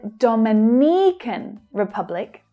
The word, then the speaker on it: Dominican Republic: So there's a little stress change there between the two that are very similar. It's not the Dominican Republic, but Dominican Republic. There's a stress change. Now we're stressing the second syllable, and the others become short and fast.